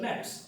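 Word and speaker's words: gnats: নেটস ইংলিশে বলা হয় নেটস জি এন এটি এস উচ্চারণটা হল নেটস এখন এত নেটস ওখানে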